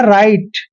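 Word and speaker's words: write: आर आई टी ई इसको पढ़ते हैं राइट राइट क्यों पढ़ते हैं क्योंकि डब्लू और आर इकट्ठा आया है तो डब्लू साइलेंट रहेगा मतलब डब्लू को हमने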